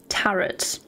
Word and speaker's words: tarot: them in Discord you can't help but pronounce tarot as if it rhymes with carrot tarot I suppose if you